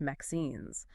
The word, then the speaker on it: MXene: Today we're taking a deep dive into the world of mines, pronounced Mexines. They're a really exciting class of um two-dimensional nano materials. Mzen.